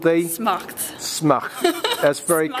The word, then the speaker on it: Smacht: Once again remind me exactly how to pronounce the event? It's called the Smacht. Smacht.